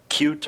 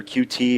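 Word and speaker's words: Qt: on your beagleboard right there's cute or cutie or cutie however you want to pronounce it you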